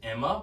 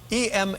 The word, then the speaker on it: EMA: Every way you see it stylized tells your brain that it would be pronounced Emma, but I'm going off of how David Letterman said it.